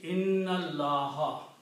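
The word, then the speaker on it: إن الله: And then the second thing is that you do not pronounce this alif in between. Okay. So the word will be inna allaha.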